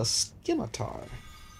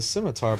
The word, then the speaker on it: scimitar: Oh, a Skimitar. Also pronounced the scimitar by people who know how to pronounce words who does not include cable from Marvel 2.